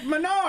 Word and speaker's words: Menards: Just keep saying I love being at Menards. You're like, I'm sorry, I'm retraining myself because I say it wrong. Menards. It's regional.